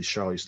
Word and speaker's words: Charlize: And what you do at that time, and what Andy, that's the Charlize Theron character, or Theron, that's how you pronounce it, Theron, Mhm.